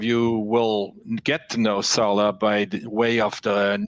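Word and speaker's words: Sarlat: a small town named salah that's s-a-r-l-a-t the t is silent some of you will get to know salah by the way of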